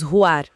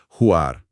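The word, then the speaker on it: רוח: E o espírito, que pronunciamos Ruar. Exatamente, Ruar.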